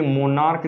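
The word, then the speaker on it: monarch: मोनार्क, अब देखिए मोनार्क जब हम बोलते हैं तो इसको सी एच को क पढ़ते हैं, इसलिए इसका भी प्लूरल कैसे बनाएंगे, एस जोड़ करके, मोनार्क्स।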